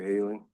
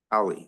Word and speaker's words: Holly: All right, thank you, Haley. Holly, I'm sorry, I keep pronouncing your name wrong.